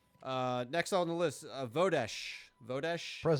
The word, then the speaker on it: Vodesh: Uh, next on the list, Vodesh. Vodesh. Present. Vodash. Freezing. Um, how do you spell that?